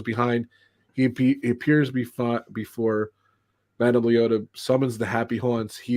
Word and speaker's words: Leota: There isn't much animatronics there until you get the Madame Loida. How do you say it? But Madame Leota.